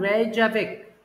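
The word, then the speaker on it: Reykjavík: के को साइलेंट कर देना। रेजावेक।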